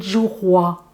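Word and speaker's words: 菊花: En chinois, ça s'appelle zhuhua. Ça s'écrit J-U et plus loin H-U-A. Mais le H se dit R en chinois, donc c'est roi. Et roi, c'est la fleur.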